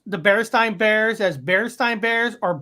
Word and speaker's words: Berenstain: Is it pronounced Alexa, is it Berenstein Bears or Bearstein Bears? I pronounce that Berenstain Bears, but I'm always working on how I say things and I might not have it right.